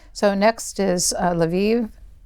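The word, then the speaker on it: Lviv: so next is uh laviv is that how you pronounce it correctly yes we discovered every city has three pronunciations the Polish the Ukrainian and the Russian and uh they don't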